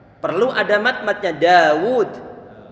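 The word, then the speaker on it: داود: ditulis dituliskan misalnya seperti kata Daud pengucapannya ada alifnya pengucapannya ada alifnya cuma penulisannya nggak disertai dengan Alif Iya kalau kita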